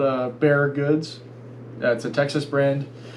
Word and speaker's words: Bexar: so something close to that it looks like bexar it's not it's pronounced bear but if you type it in it's going